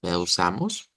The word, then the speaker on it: usamos: aquí usamos miren usamos usamos de usar notas el cambio aquí en la s por el sonido Z y la u al final también usamos y la el